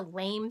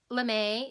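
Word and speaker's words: lamé: bit longer and so when you say it you don't say this is a lame sweater you say this is a l'm a knit sweater so this is what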